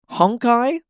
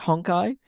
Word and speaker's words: Honkai: Is it pronounced honkai? Like you're honking someone's eye? Yeah, it's it's more like a honk honk.